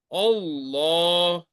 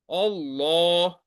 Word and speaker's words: Allah: pronounce the word law so in case of Allah when there is when word Allah is preceded by F or D L of Allah will be pronounced as take just like Allah Allah and when word Allah